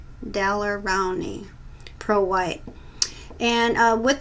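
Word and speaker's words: Daler-Rowney: I have a hard time pronouncing that. It's Dalerrowney, Rowney, Pro White.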